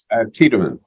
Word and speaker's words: Tiedemann: Did I pronounce that right? Tiedemann.